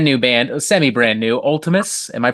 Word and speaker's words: Vltimas: got a brand new band semi brand new Ultimus am I pronouncing that correctly yes you are absolutely sophomore